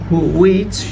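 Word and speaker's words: which: দেখেন তারপর সেন্টেন্সটা হবে দ্য রেজুলেশন উইচ, এটা নট হুইচ হবে, এটা হবে উইচ। এই এইচের উচ্চারণটা সাইলেন্ট হবে সবসময়, নট।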